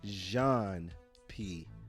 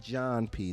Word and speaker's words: Jéan P: how do you pronounce my name it's Jean P not John P the MC not MCX Jean like zh like all right here Jean P the MC that's how you say my name what inspired the album